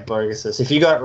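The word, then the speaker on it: Vogus: But it's pronounced Vo-Gus. It's Lithuanian, so yeah. If you got it, yeah, Vo-Gus.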